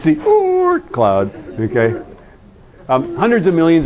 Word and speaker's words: Oort: Okay, that the double O in Dutch, you actually have to pronounce by inhaling, right? So go Oort, Oort.